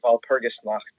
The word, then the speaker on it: Walpurgisnacht: Well, I'll say it like a Yank. It's Walpurgis not. Well, I'm pretty sure. Wellspurgis not. I'm pretty sure with the German accent, it would be like Walpurgisnacht.